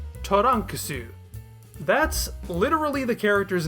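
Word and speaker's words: トランクス: characters known as Katakana spoken aloud they are the sounds Toran kasu that's literally the character's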